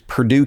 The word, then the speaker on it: Purdue: accent so I'm like it's Purdue like the chicken not the college and